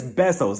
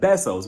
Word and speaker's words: besos: It's besos, Lisa, besos.